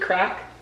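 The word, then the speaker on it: craic: Oh, good crack. But it's C-R, how do they spell it? Like C-R-A-I-C, good crack, which means you like crack on, like you can talk really well with someone, I think.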